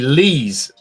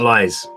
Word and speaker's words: Lees: Oh, sorry, Lees. Lees. Not lies.